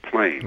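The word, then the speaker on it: Plame: Val valry Wilson valry her M name name PL right rhyming with flame is the way I always remember it because it's kind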